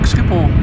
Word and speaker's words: Schiphol: Well, like Schiphol. With a as if you need to spit.